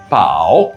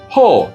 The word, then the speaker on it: 宝: Now repeat with me, 宝 in Mandarin or ho in Japanese.